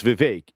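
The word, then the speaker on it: Vivek: No, my name's Viveake. It rhymes with cake or medical information about them.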